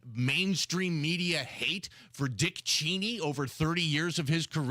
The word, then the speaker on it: Cheney: somebody said you know it's actually cheny is it really it it really is it's cheny it's not Cheney but he's like